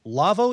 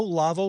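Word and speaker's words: Lawo: folks at lavo lavo you may know lavo for making big fancy german audio consoles and also for being a proponent of the ravenna aoip audio system well the folks at lavo and that's spelled by the way l-a-w-o so if you want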